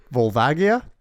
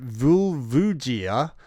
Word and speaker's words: Volvagia: Volvagia. And then he says, I pronounce it Vulvugia and have done since Ocarina of Time's original release.